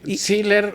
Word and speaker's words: Siller: estaré hoy platicando con Jorge Siller, si lo pronuncié bien, ¿verdad? Está bien. Seer o seer, como ustedes gustan.